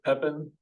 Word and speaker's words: Pepin: Am I pronouncing that right? Pepin? Is that correct? Yes, it's Okay.